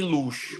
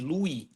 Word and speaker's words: Louis: Se escreve Louis, eu acho que algumas pessoas falam ângulo de Louis, sei lá. Tem gente que fala ângulo de luz, mas não, é de Louis, porque é o nome do cara lá, que ele é francês.